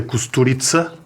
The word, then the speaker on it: Kusturica: Este filme ganhou a Palma de Ouro em 95, o Underground, do Emir Kusturica, que já me disseram que se pronuncia Kusturica, esdrúxula e tse em vez do c.